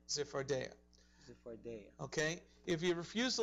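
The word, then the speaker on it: צפרדע: Que en el hebreo se pronuncia Zephardea. Zephardea.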